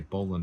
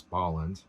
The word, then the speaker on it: Bolland: a Brian Balland um I used to say Boland all the time but Bill corrected everybody is bolland um not corrected but he made me notice that I was saying it wrong um a joke or